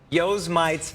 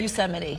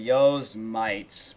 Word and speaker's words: Yosemite: Call it Yosemite's Firefall. Yeah, Did I pronounce that right? Yosemite. Okay. He said, yo's mites, bro.